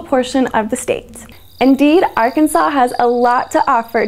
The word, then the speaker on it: Arkansas: The name Arkansas derives from a French term and was initially applied to the Arkansas River. In 1881, the pronunciation of Arkansas with the final S being silent was made official by